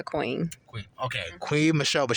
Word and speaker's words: Qween: It's pronounced Qui, right? Qui Michelle. It's Queen Michelle, but I go by Queen.